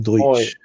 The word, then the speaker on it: Deutsch: Deutsch. Yeah, it's pronounced as oi. Oi.